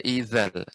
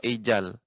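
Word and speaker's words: إِذَا: Za ini ujung lidah dengan gigi seri atas ya, bagian depan. Gigi seri depan bagian atas. Wa idzal, za. Tidak wa ijal atau wa idal, enggak, wa idza, za.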